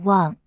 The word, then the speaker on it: 万: Read Wan above. Wang is also pronounced Mo, which is used to compound the surname Wang Qi. There is no traditional character form when Wang is read as Mo.